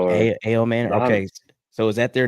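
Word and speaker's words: Ayomanor: Ell a manor or a manor.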